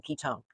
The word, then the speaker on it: ketone: I know it's spelled one, but it's pronounced own. Ketone.